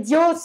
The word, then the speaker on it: diots: on met pas deux on ne prononce pas un bep dios est donc une spécialité de savoie il ya là tu aimais on prononce pas le thé ce qu'il ya deux